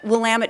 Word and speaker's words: Willamette: We have a very unique area, Willamette Valley.